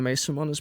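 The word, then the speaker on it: Meesseman: might be okay and Emma may someone's back that's how you say it by the way I'm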